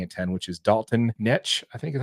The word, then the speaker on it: Knecht: But I am picking the same pick that ESPN has us picking at 10, which is Dalton Knecht. I think is how you say that. Yeah, Knecht.